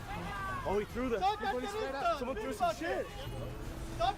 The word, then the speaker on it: carterista: Caritarista. See? Oh, carterista.